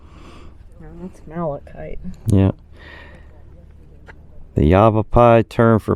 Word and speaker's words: malachite: So here we got copper ore, malish, ezerite, salt, and something I can't pronounce. Argolite. That's malachite.